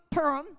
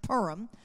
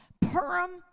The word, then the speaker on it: Purim: In that very critical time between Purim, I'm sorry, I have to train myself to say it different. It's pronounced Purim. Purim and Passover, which is 1 month and one day.